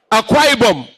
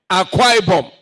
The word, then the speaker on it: Akwa Ibom: Is that the pronunciation? Akwa Ibom. Akwa Ibom. Hey, I get it. Akwa Ibom.